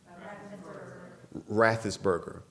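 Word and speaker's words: Raffensperger: How's it pronounced? Rathesberger.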